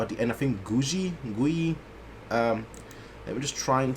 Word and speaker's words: Giyu: I think Gui. Let me just try and see whether I can find how it's said and how it's also how he also pronounces it. Let's see. Giyu.